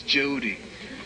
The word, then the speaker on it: Jehudi: Yeah, but it's not said to who, it's Jehudi. That's how it's pronounced.